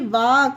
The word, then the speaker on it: walk: TALK, टाक, FOLK, फोक, YOLK, योग, CHALK, चाक, वाक, टाक, फोक, योग, चौक, ये सारे वर्ड में के से पहले एल है, इसीलिए एल साइलेंट है।